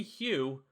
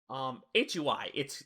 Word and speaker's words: Hui: 10 years later, the original creator, Christy Hugh, or at least I think that's how you say it, Hui, it's Chinese. Hui.